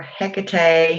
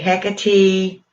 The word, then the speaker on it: Hecate: my goddess picade um or hecate heck of tea i'm getting so i'm just gonna i'm getting tired of you know saying all the ways to pronounce it i call her hecate most the time um